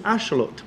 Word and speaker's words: axolotl: Did you know that the word axelottle pronounced in nuatal, the native Aztec language, is ashelot, which means water monster or water dog.